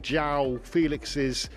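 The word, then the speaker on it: João Félix: We've all been getting Joao Felix's name wrong, and he was keen to correct us.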